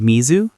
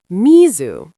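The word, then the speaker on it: みず: Would you like some cold misu? Misu. Mizu.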